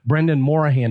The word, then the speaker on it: Brendan Morahan: Joining us today is Brendan Morahan. Did I pronounce that correct?